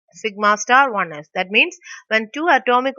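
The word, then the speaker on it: σ*1s: So we can just pronounce it as sigma star 1s.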